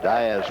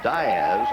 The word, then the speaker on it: Diaz: D-I-A-Z, but the preferred pronunciation of the Diaz family is Diaz and not Diaz, as you might suspect.